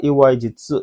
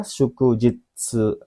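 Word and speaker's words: 祝日: Ini hi-nya dibaca bukan hi, tapi jitsu kalau di sini. Kemudian ya kadang-kadang dibaca hi memang ya. I3, Iwaihi. Ya ini kanji Iwai memang, cuma di sini tidak Iwaihi yang dibacanya, tapi Shuku ya. Nomor 4, Iwai Jitsu. Ini salah ya. Melenceng jauh ya.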